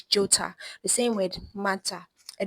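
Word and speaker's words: 좋다: The h is silent, but t intensifies. So you see that the digit consonant becomes the tiot consonant because of the emphasis that's been placed. So it's not jota, it is jota.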